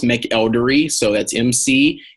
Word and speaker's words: McElderry: are dr dr and my last name is pronounced make eldery so that's MC e